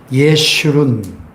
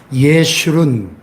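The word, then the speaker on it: ישורון: 내가 택한 여수르나, 여수른이라는 말을 처음 들어보는 분도 계실 것이고, 우리가 자주 안 쓰는 말인데, 여수른이라는 말이 히브리어에 보면, 예슈룬, 히브리어로 발음하면, 예슈룬, 이런 말은 곧은 자, 옳은 자, 의로운 자, 이런 뜻입니다.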